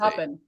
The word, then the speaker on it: Coppin: Coppin. That's what I thought. Did I say it wrong? No, he was saying Copen because that's the state that he's been in.